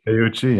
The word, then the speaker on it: Teuchi: Is that how you pronounce his name? Teuchi, yeah.